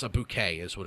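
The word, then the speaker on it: bokeh: with that language and people try to say it like in photography videos they'll say like bao or like they'll try to say it phonetically which is something I would do and I've done that many times with French words. It's pronounced bouquet.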